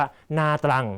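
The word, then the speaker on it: Nha Trang: คน ไทย ชอบ ไป อ่าน ว่า นา ตรัง นะ ไม่ ใช่ ต้อง กิน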